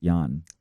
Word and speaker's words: Jan: Twitter calm baby oh yeah yeah I'm at pronounced yawn well alright not your platform but I'm feel